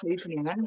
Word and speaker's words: Scheveningen: Den Haag has a lovely beach called Scheveningen.